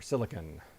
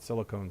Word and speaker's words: silicon: And there's our silicone or silicon. I've called it silicone since I was a kid. And I I'm pretty sure it's just pronounced silicon.